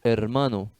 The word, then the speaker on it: hermano: O H é uma letra sempre muda, o H é mudo, não tem som, né? Então, hermano.